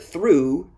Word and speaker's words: through: the other rules and the word through ends with a long u sound like the number two through which just means